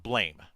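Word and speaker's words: BLAME!: this was shortly after blame was made into a anime movie on Netflix and I had to keep correcting you and it's called blam yeah it's spelled blame it's pronounced blam just still still going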